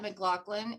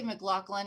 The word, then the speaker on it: McLaughlin: But we've had the pleasure of meeting Pat McLaughlin, and as you know, did I say McLaughlin or is it McLaughlin?